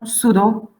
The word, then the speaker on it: pseudo: And here, pseudo, you know, pseudo, so this PS combination must be pronounced in Latin.